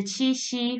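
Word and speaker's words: 七夕: be presented and today we go to the chi-shi festival the chi-shi festival in chinese is chi shi ji and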